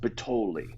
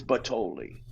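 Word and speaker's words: Butthole: is um it's it's spelled b-u-t-t-h-o-l-e but it's pronounced pitoli it's gus it's well it's kind of italian gus but totally b-u-t-t-h-o-l-e it's yeah it's it's batoli yeah gaspitoli the one that you know what's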